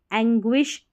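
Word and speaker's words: anguish: और I का है, GUI शब्द के बीच में हो तो GUI को ग्वी करके पढ़ते हैं। जैसे देखें यहाँ पर इन स्पेलिंग्स में, एंग्विश, डिस्टिंग्विश, पेंगुइन, तो ये जो है एक बार इनकी प्रैक्टिस कर लें।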